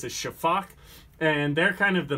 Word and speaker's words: sifaka: is the name looks like it should be pronounced sifaka but it's a Shafak and they're kind of the Masters of vertical